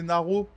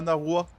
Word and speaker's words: Naro: Fais gaffe à la prononciation, BG, c'est Naro, pas Naroua.